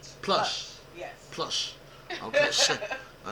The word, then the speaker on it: Plush: You just say Plush. Plush. You gotta add the H. Plush.